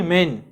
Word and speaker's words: Maine: ठीक है, अब बात करते हैं हेनरी मेन की। हेनरी मेन कह लीजिए या फिर सर हेनरी मेनी कह लीजिए, जैसे भी आप प्रोनाउंसिएशन करना चाहते हैं वो कर सकते हैं आप।